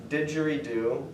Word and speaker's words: didgeridoo: like I'm just yeah it's pronounced didgeridoo it has two DS in it did Jerry do oh 3ds i guess but it actually is